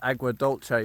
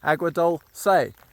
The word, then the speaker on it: Agua Dulce: miles-ish, into Agua Dulce, which I first pronounced as Agua Dolce because it's kind of, that's how I thought it was pronounced. C, E, Italian, Latin, it's more of a hard C I would have thought. But no, Agua Dulce, D-U-L-C-E.